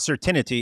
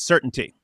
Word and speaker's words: certainty: It's just, it's not certainty, it's certainty.